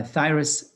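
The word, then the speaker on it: Phthirus: love spreads typhus uh thyrus pubis ph is silent uh thyrus pubis is a pubic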